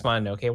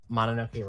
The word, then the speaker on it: Mononoke: Why do you pronounce Mononoke wrong? Mononoke wrong. It's Mononoke. Mononoke. It's Mononoke. It's a Japanese word.